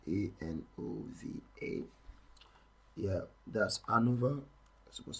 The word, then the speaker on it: ANOVA: looking at one way and over and over is spelled a-n-o-v-a yeah that's Anova that's supposed to be in